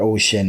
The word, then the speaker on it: O-SHiN: quite interesting um so if you're looking for ocean it's spelled in all caps oh Dash s-h-i-n and